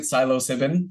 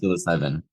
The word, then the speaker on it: psilocybin: Psilocybin. Have I been pronouncing it psilocybin this whole time? Maybe, yes. I didn't want to correct you, but I think it's psilocybin.